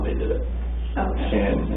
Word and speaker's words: Shanann: Shanann and apostrophe A-N-N. Okay. It's easier to say it when I spell it out, but because we keep wanting to say Shannon, of course, but a lot of people call her Shannon.